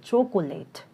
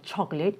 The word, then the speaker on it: chocolate: And here's another one, So non-native speakers tend to pronounce it like chocolate. Instead of chocolate, it sounds like chocolate. The sound is dropped here.